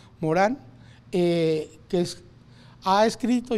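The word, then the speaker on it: Morin: eh que se llama Edgar Morán Morín se escribe francés Morán eh que es ha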